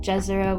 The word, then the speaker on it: Jezero: I know that saying Jezero with the J sound is like an anglicized pronunciation. I think it's supposed to sound more like Yezero.